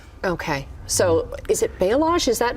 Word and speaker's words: balayage: And how do you pronounce that again? Balayage.